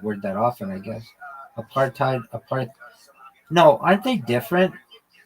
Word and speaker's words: apartheid: You mean a partid? Yeah. I mean that's the same thing. Why did you pronounce it? I've never heard anyone say that. I get it spelled like that. Hold on. Yeah, you're right. Well, am I not I know. Yeah. Apartheid. Aparttheid. Yeah, you're you're 100% right.